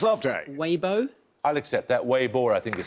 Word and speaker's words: Weibo: Weibo, I think is how you pronounce it.